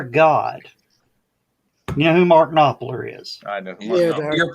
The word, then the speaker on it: Knopfler: You know who Mark Knopfler is? I know. Yeah, You're pronouncing it wrong. It's Knopfler. Knopfler, whatever. Knopfler with an F.